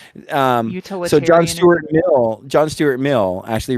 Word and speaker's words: utilitarianism: Do I pronounce it wrong? Yeah, it's utilitarianism. Utilitarianism.